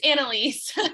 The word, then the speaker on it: Annalise: Annalise, Hi, yes, it's Annalise. You said it right.